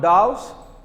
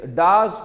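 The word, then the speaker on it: Dawes: you see Das plan so pronunciation is not doubts it is Das plants what is the Das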